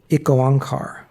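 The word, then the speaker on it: Ik Onkar: is something called and forgive me if I pronounce it wrong. Um I goankar.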